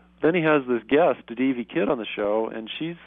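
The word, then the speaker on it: Devvy: Kidd, and her first name is spelled D-E-V-V-Y, D.V. Kidd.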